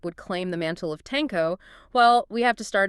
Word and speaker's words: Tenko: his title explicitly as Tenko. Yes, Tenko. But when we refer to the later monarch on the Japanese archipelago who adopted those exact same characters centuries later, we will pronounce it as Tenno.